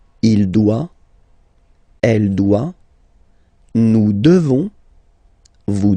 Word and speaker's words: devons: Nous devons. Okay? Classic ending ONS for nous. Okay? You just pronounce this on, this nasal. Okay? And then the S, final S is not pronounced.